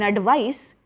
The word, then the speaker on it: advice: slight difference in pronunciation in advice with an S sound it is a noun you can give your friend some advice it has sir sound s sound in advice adv IC e for